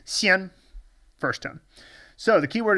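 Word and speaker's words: 鲜: be the video for Xian, that this can also be pronounced Xian when it is in certain words, and the most common is Chaoxian, which is the Chinese word for North Korea.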